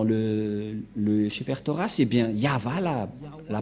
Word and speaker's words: Yahvah: du ça ne devrait pas du tout être Yahwé qui on induit en erreur les catholiques romaines car dans le le chetoras et bien yava la la prononciation et on va prendre en